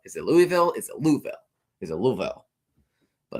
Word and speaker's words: Louisville: Is it Louisville? Is it Louisville? But it's pronounced Louisville.